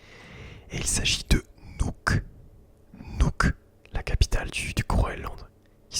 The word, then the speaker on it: Nuuk: Nuuk, la capitale du Groenland, qui s'écrit N-U-U-K.